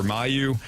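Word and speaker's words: Mailloux: Your defensive pairings, Fowler and Parayko, Broberg, Falk, Tucker, Mayu, and is it Mayu or Mayu?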